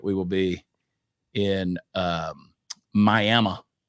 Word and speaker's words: Miami: will be in um miam which is spelled Miami miam Oklahoma are you talking to